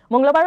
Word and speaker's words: মঙ্গলবার: ভাই জুমাটা খাই দিছো মংলাবার প্রোনাউন্স কেনে করিবা ইংরেজিত লিখে দিছু মং ল বার মংল বার মংল বার মঙ্গলবার কি